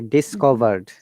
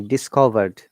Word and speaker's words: discovered: it is discovered say discovered do you say with me discovered discover look there is a d sound at the end remember you must pronounce the d i can't hear the